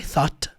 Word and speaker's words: thought: I thought. Thought. Por mais que tenha todas essas letras aqui, não é thought, não.